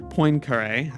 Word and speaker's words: Poincaré: Mathematicians from Zeno to Poincaré. I just looked up that pronunciation. It's something like that, at least for someone who doesn't want to go hard on the French pronunciation.